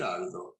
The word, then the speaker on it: Gerardo: But your name Gerardo is not it's pronounced French. Gerardo in Spanish. Gerardo. Gerardo. It's Spanish. Yeah. Gerardo in Spanish. It's also Gerardo in Italian.